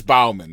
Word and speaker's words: Baumann: It is Bowman, though, right?